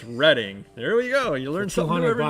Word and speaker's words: Reading: do you say it reading pa right believe it or not it's reading i didn't know that i i learned that about a month ago as well everybody was all reading railroad it's reading there we go you